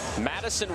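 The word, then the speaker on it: Matyson: Madison Wilkie is spelled M-A-T-Y-S-O-N. Interesting spelling. Well, her dad is Matthew, her mom is Allison. They mixed the two names to get Madison.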